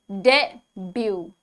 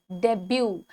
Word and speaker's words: debut: The correct pronunciation is debut, debut. T is silent.